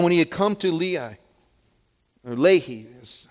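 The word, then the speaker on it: Lehi: the rock and when he had come to Lee I lay here's how that's pronounced the Philistines came shouting against him check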